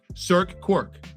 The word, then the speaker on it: Cirque Quirk: You founded, now am I saying it correctly, Cirque Quirk? It's actually Cirque, like Cirque du Soleil, and Quirk, like we're all a little quirky. Let's celebrate Definitely that. quirky. Okay, so Cirque Quirk.